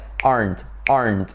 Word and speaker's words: aren't: I know, but it needs to be like aren't. Like una sílaba.